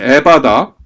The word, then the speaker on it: 에바다: 앱의 바다 라고 하셨다 그것은 열리 라는 뜻이다 에바다 라고 하셨어요 예 열리리라 영어로 원문으로 bof 수동형 입니다 수동형 b 오픈 여러분들 에바다 그타 같이 한번 여러분들이 어 각자 계신 곳에서